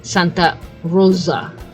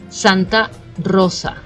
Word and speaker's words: Santa Rosa: they said there is the S of Rosa you pronounce it like it's a z right you're saying Santa Rosa which should be Santa Rosa so the S is really soft I know in Spanish